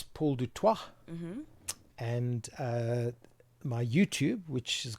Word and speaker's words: Du Toit: So the correct pronunciation, it's French. See? So it's Du Toit. But the Afrikaners say Toit. Okay. And the English-speaking people say Du Toit.